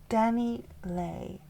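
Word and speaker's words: DaniLeigh: Danny Lei. Her real name is Danny L, but you spell it as D A N I L E I G H.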